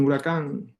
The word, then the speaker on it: huracán: Cual H silenciosa de huracán, resurgent, silent H in huracán.